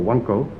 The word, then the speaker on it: wanko: simple eat as many little bowls or wonko as the local dialect is pronounced as many as you